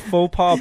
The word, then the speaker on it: faux pas: Faux pas is the correct way to say that.